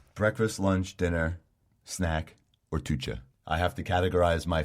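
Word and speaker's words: toetje: Breakfast, lunch, dinner, snack, or tucha. I have to categorize my favorite foods in that sort. Yeah, All right. tucha being the Dutch word for Dessert.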